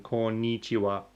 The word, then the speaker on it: こんにちは: And you have to hit the ni sounding, こんにちは, right? こんにちは. Yeah, you're saying ni strongly. Is that wrong? Oh, こんにちは.